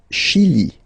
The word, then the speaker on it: Chili: Le Chili. Le Chili. Okay, remember, CH, sh. Okay, Chili.